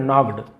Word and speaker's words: knocked: He knocked gently, और उसने gently धीरे से, नॉक्ड, के साइलेंट होता है केवल नॉक्ड, है ना, के एन